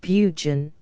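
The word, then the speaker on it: Burgoyne: a famous fox hound named bergoin he pronounced it buun which my informant used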